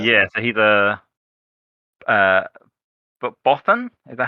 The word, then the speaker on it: Bothan: yeah, so he's a but Bothan.